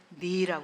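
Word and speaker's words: ναί: 이걸 갖다가 에르코마이 타쿠 그리고 나이라고 해요. 이거는 여기서 나이라고 읽는데 지금은 그리스에서 이걸 나이를 네라고 그러는데 우리말로는 진실로라고 번역되었지만 실제로는 네 옷이 없어서 그 얘기예요.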